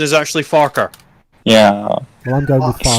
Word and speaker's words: Farquhar: Yeah, the original pronunciation is actually Farquhar.